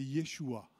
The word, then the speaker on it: Yeshua: C'est Yeshua. Vous connaissez Yeshua? C'est Jésus, Yeshua. C'est Yeshua qui s'écrit là aussi en hébreu.